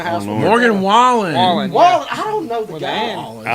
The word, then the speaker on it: Wallen: Morgan Wallace. Hear it Morgan every day. Wallen. Every day. So Morgan Wallace is in the house. Oh, with Lord. Morgan Wallen.